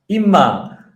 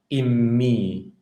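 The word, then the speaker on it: אִמִּי: Likewise, in first kings 2:20, when Solomon addressed his mother, he did not say imma like a good modern Israeli. No, he said in me.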